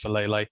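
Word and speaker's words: Faalele: They got Daniel Falele, I think I can pronounce his name right, it's Falele.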